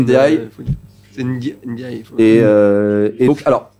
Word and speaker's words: Ndiaye: Non, c'est Ndiaye. Il faut pas prononcer le N, hein. C'est pas Pape N. Ndiaye. C'est Ndiaye.